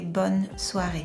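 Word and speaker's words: bonsoir: I I say bonare. Bonare. You could also say bonar, but it's it sounds nicer to say bunare.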